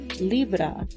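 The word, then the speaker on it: llibre: In Catalonian, it is libra, but it's spelled livre, like it would be spelled in it could be French or Italian. And then all the E's have an A sound, all the O's have a U sound.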